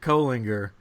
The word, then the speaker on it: Colinger: brother from another mother it is Mr Jared kinger and that is how you pronounce his name and he's here with us